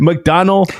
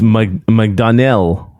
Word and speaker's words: McDonnell: McDonald McDonald's is probably with leading the murders anyways. It's McDonnell. I don't know how to say it. It's with an N-N-E-L-L.